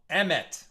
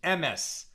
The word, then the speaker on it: Emet: That song is called Emet, or the more Ashkenaz pronunciation, Emes, truth.